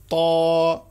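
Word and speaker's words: ط: এ অক্ষরটার নাম হচ্ছে ত। ইংরেজিতে ছোট হাতে বি এর মতো দেখতে এই হরফটার নাম হচ্ছে ত। এই হরফটার নাম হচ্ছে ত। তত কিন্তু মোটা অক্ষর। এ কারণে একটু মোটা করে উচ্চারণ করতে হবে।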